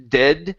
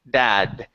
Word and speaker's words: dad: So this is abusive, and instead of dead, it's dad. Abusive dad. Abusive dad. Dad. Give me the D sound at the end.